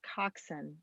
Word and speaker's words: Koczan: knows see who knows so i'm going to pronounce it coxson i love that do that that's what i